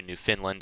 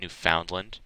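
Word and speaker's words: Newfoundland: getting very close to New Finland as well I'm sorry I pronounced it wrong yesterday it's New Finland not New Foundland me pronouncing it literally there but she will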